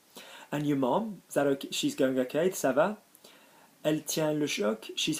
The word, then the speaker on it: ça va: Ça va, notice the cedilla on the C, yeah, soft C, ça va, always need a soft C before an A, ça va.